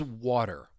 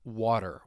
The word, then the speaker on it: water: Now, I mentioned when the T comes between 2 vowel sounds with the American accent, you're going to hear me pronounce it as a flap T. I think a word that I always come back to is water, water, water. That really you can really grasp that flat T.